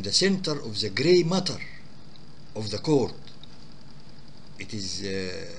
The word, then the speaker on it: mater: Mater, one T. One T, mater. And pronounced matter, but the matter is a substance, double T.